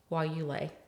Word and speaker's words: guayule: say that we were working somebody was studying while you lay.